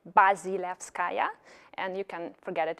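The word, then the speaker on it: Bazilevskaya: help you out with pronouncing my surname which is like really long and terrible and a challenge to pronounce and maybe 1% of people do it right from the very beginning so it's buzzy laughs kaya and you can forget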